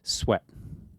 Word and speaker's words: Sweat: And but we didn't know how to pronounce her last name. Is it Sweet? Is it Sweat? Right? And we brought up her name a few times and didn't. And so finally, she responded to our inquiry and helped us. It is Sweat.